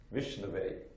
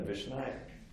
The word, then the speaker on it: Vishnave: The actual proper pronunciation is Vishnave, right? Rather than Vishnaya.